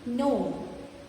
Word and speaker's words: gnome: Sign, design, gnome. In these words, G is silent.